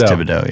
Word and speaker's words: Thibodeau: He's Thibodeau, yeah. The H is silent, like in most languages.